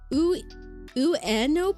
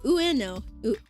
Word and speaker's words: Ueno: You pronounce it like uo park. Oh, Ueno Ueno.